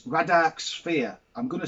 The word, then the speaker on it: Vradark: I'm going to say it's Radark Sphere. Yeah, we'll say the V silent by the Sanchez crew.